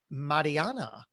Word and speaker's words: Mariana: It's pronounced Mariana, Mariana in my New Jersey accent.